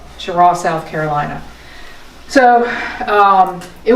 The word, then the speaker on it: Cheraw: e r a w we thought it was chirra but we found out when we got there that actually is pronounced chirra chirra South Carolina so um it was nice to